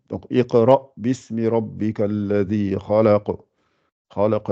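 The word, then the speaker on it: اقْرَأْ: Et pourtant, quand vous lisez, vous dites Iqra. Vous êtes obligé de faire un I. Donc, Iqra bismi rabbika alladhi khalaq.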